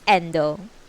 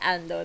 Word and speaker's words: Endo: father ogatasang laughed but make no reply it's endo yeah it's e-n-d-o if i pronounce it ando then i must be thinking about you but